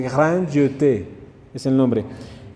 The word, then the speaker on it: Grand Jeté: La primera E se pronuncia E. Así se dice en francés, como dando piquitos siempre. Entonces, pero la segunda E que tienen ahí en el nombre, como tiene tilde, no se ignora y se pronuncia como una E. Entonces, por eso dice Grand Jeté, es el nombre.